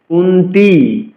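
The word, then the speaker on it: কুন্তী: রাজা পরবর্তী চত্র যাচ্ছি কুন্তি কুন্তিতি বলতে হবে দীর্ঘকার রয়েছে অর্থাৎ দীর্ঘকার রয়েছে আমাদের দীর্ঘস্বর উচ্চারণ করতে হবে কুন্তি পুত্র তাও দীর্ঘ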